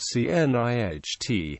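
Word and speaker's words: cniht: There were not usually any silent letters in the word C NiH. For example, both the C and H were pronounced unlike the K and GH in the modern night.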